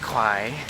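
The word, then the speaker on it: ควาย: Well, it's kwai, I gotta say it right, which is buffalo.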